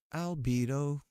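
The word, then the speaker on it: Albedo: Albido is how you say is is how you just said albido.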